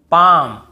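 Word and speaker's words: palm: एफ के एम इसके पहले एल हो तो हमें नहीं पढ़ना है जैसे काम बाम पाम और यहां पर आमंड बहुत से लोग आलमंड ऐसे बोल देते ब कालम बालम पाल्म नहीं होगा काम बाम पाम और आमंड ऐसे आलमंड आलमंड नहीं पढ़ेंगे ठीक है आमंड व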